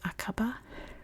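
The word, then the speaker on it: Aqaba: real quick I know in Jordan it's pronounced akaba but I'm pronouncing it the American English way so don't come for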